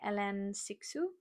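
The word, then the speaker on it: Hélène Cixous: The next book is The Third Body by Elen Sixu, I think is how you pronounce it. It's a French name.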